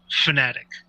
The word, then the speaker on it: Fanatec: Thomas Jackermeyer, and asked him how it was pronounced, and he said technically it's Fanatic, because these people are racing fanatics, so that's how it's supposed to be pronounced.